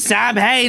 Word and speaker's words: Samhain: the school to write Sam Hain. I know it's actually pronounced Samhain.